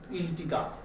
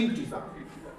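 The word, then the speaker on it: integer: ই আর অনেকে জি কে গ এর মত উচ্চারণ করে তাহলে হয়ে যাবে ইন্টিগার হয়েছে কিন্তু জি এর মতই উচ্চারণ হয় ইন্টিজার ইন্টিজারটা কি zero one টু ডট ডট ডট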